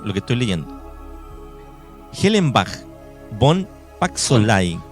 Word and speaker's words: von: Hellenbach von Paxolay. Fon, porque sería alemán.